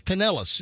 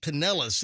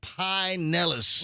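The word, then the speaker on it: Pinellas: But it's it's it's it is penellis. It is pronounced penellis. It's not pine nellis.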